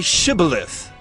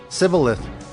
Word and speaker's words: Shibboleth: When he said, "No," they said to him, "Then say Shibboleth." And he said, "Sibboleth," for he could not pronounce it right.